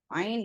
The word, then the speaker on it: ein: And eins is used for 1, but we remove the S from eins and we say ein. Then you add the word and, which is in German und. Ein und 20.